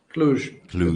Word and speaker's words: Cluj: Cluj? Cluj. With the J.